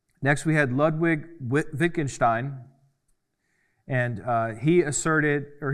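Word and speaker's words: Wittgenstein: Next we had Lewig Wi Vickingstein and uh he asserted or he focused on ordinary language meaning and clarity. Now Wikinstein is important or vickingstein is how you say it for the Germans but it's he's important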